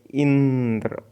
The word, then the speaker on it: इंद्र: जैसे इंद्र में ई पर बालाघात हो रहा है, ठीक है, इंद्र।